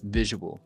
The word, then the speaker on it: visual: visual yeah visual experience it kind of makes it hard too because when I say this word slow it really draws out the letter U so it almost like has to be said fast cuz if you say